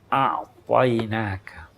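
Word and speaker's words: أعطيناك: A'tainaka. Kalimat ini berat di lidah non-Arab. Ain. Ya toh? Pengucapannya, pelafalannya lebih susah sedikit.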